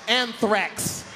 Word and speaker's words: anthrax: You don't even know how to say it, man. That Ajax is cleaning motherfuckers out, ain't it? Learn how to say it before you die. It's anthrax.